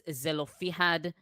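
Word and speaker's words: Zelophehad: his name and well in English it's zelofihad but it in Hebrews really that's how you pronounce it I think so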